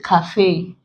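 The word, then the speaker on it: café: Fiance, cafe, the E there contains the A sound.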